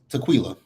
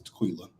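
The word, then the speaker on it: Taquilla: me if I'm wrong I think her name is Tequila because that's how it's spelled t-a-q-u-i-l-l-a I believe my name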